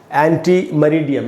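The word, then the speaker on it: ante meridiem: तो दोस्तों एक्चुअली ये लैटिन लैंग्वेज का है, जैसे मैंने आपको बताया, और इसका फुल फॉर्म है एंटी मरीडियम। ये मैंने उच्चारण लिखा है यहाँ पर, एंटी मरीडियम।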